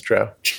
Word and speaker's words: Drow: Probably not a Drow. Otherwise known as Drow. Yeah. By some, I suppose. I mean, Crow, right? Like it's not... This is a defensible pronunciation.